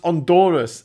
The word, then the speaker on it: Honduras: Honduras is pronounced Honduras. H is silent.